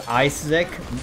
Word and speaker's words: Isaac: good as a person ISAC uh you actually pronounced it wrong it's isic you're incorrect sorry skill